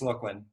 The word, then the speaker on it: Lachlan: How about how do I pronounce this? Lachlan? Yeah, hey, sorry, it's Lachlan.